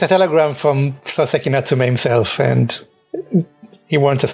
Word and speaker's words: Soseki Natsume: Yeah, it's a telegram from Soseki Natsume himself, and he wants us to come over quickly. Or as the Bobby pronounces it, Mr. Saucy Nutmeg.